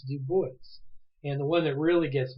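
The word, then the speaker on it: Du Bois: like a GU State Compton that's how you pronounce it you'll see a guy by the name of w eb de voice it's not de bois de voice and what it really gets me that even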